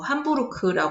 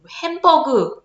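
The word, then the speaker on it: Hamburg: 이제 독일에 있는 도시죠 함부르크 읽으면 되 햄버그 거 같지만 함부르크 독일의 함부르크는 새로운 이제 콘서트홀 이제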